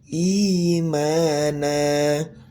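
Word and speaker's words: إيمانا: I jangan e ya imana.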